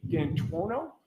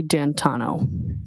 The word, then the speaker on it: D'Antuono: And when you went outside, you learned that he had come and his friend, is it Ricky D'Antuono? How do you pronounce the name? It's Ricky D'Antano. Tano.